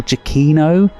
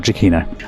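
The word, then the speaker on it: Giacchino: But first, I just want to apologize that I actually mispronounce Michael's name, the director. It's Michael Chainino instead of what I say. So, apologies. I've already recorded all of this, but it's actually Michael Chino.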